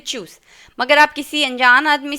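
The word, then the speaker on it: tschüss: इसको देखिए क्या है, चूस का उच्चारण है चूसना, जैसे हिंदी में हम लोग बोलते हैं चूस, एकदम ऐसा ही। इसको ना तो ज बोलना है ना जो बोलना है, इसको चूस बोलना है, चूस।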